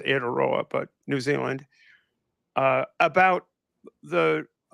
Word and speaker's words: Aotearoa: of mine who is in, I think it's pronounced Aotearoa, but New Zealand, about the screaming memes who were leading the anti-trans thing.